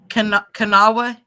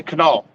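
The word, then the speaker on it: Kanawha: say that River again kanawa yeah okay kind of like Okinawa okay I get it most people just say canal canal okay now well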